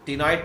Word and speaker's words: ctenoid: Few fishes also possess ctenoid type of scale. C is silent there.